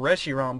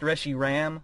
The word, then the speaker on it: Reshiram: Firestorm riom put on which is apparently pronounced RI Ram which I guess makes sense you know zro RI ROM they're supposed to be you know one's got a o one's got a a at the end so I guess that